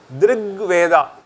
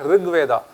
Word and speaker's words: Drigveda: Drigveda. Abhi boliye. Not Rigveda.